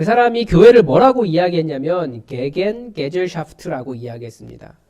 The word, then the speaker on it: Gegengesellschaft: 그 사람이 교회를 뭐라고 이야기했냐면 게겐 게젤샤프트라고 이야기했습니다. 조금 더 원어 발음에 가깝게 하면 기긴 기즈샤프트.